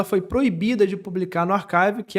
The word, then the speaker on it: arXiv: E aí uma coisa interessante que aconteceu também desses artigos da Beatriz foi o seguinte: existe o Archive, se escreve com X, Arxiv, né? Se eu fosse soletrar, ARXIV.